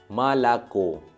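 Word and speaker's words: молоко: तो पहले जो दो ओ है म के बाद और ल के बाद, उन दोनों ओ में स्ट्रेस मार्क नहीं है, तो दोनों ही ओ आ जैसा प्रोनाउंस हुआ, मालाको। लास्ट ओ जो है वो ओ ही प्रोनाउंस हुआ क्योंकि उसके ऊपर स्ट्रेस मार्क है।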